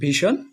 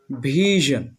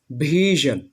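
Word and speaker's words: vision: আচ্ছা, এক নম্বরটা হচ্ছে, এটা আগে আমরা বলতাম ভীষণ, এখন আমরা এটা সঠিকভাবে উচ্চারণ করব ভিশন ভিশন ভিশন ভিশন।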